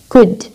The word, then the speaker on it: could: مثلاً هنا back rubber نفس الصوت باب ولكن هنا باب واحدة هنا توبة day ladder cold sorry could L D ال L هنا silent.